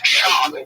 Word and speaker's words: Schaub: It's Schaub. You have to say his name.